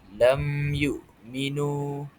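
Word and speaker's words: لم يؤمنوا: cara bacaannya er maka hukum bacaannya adalah izhar ia dibaca dengan tidak disertai dengan er gun ghunnah iaitu dengung. Jadi cara bacaan yang betul ialah lam yuk lam yukminu lam yukminu dibaca jelas lam yukminu.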